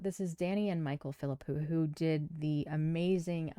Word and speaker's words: Philippou: believe, fulllength outing for the Philippo brothers. And I hope I'm saying that properly. I've looked it up a couple different places and that seems to be how they say it.